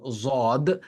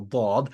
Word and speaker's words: ض: Now, when we grew up, you must have learned from a qari who taught you that this is pronounced as zad, and then we came across our Arab brothers and sisters, and they pronounced this as dad, and we learned, okay, the correct way of pronouncing this is dad. So والعاديات ضبحا, and then some people who are perhaps not that skillful at it, they pronounce it as dal, والعاديات ضبحا, whatever it is.